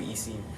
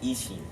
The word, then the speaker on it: Isin: Is it Isin or is it Ishin? It's I-S-I-N, so I think it is Isin. That's weird. That's just not like Japanese pronunciation.